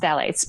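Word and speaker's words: phthalates: h a l A tes and it's uh pronounced phalates but those um it's often used as emulsifier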